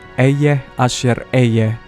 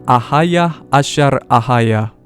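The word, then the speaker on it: אהיה אשר אהיה: Aku adalah aku di bahasa modern Hebrew tertulis Eyeh Asher Eyeh. Ngomong-ngomong, saudara bisa cek tulisan asli dengan menggunakan Strong's Concordance. Sebetulnya secara teknis di bahasa Ancient Hebrew, ini dibacanya Ahayah Asher Ahayah.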